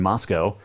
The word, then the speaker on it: Moscow: the Kibbie Dome in Moscow. And it is Moscow, Idaho, but Moscow, Russia. Remember that, okay? They're spelled the same, pronounced different. Moscow, Russia, Moscow, Idaho. It rhymes.